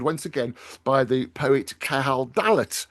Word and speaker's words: Cahal Dallat: again by the poet Cahal Dallat. I've said that right, haven't I, Cahal? Yeah, perfect, Nick. Absolutely.